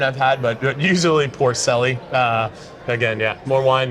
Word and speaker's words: Porcelli: yeah we can go with pelli how you pronounce it it depends on how much wine I've had but but usually Porcelli uh again yeah more wine it gets a